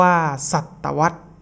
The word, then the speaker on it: ศตวรรษ: ครับ ศตวรรษ นะ ครับ ก็ อ่าน ว่า ศตวรรษ นะ ครับ หมาย ถึง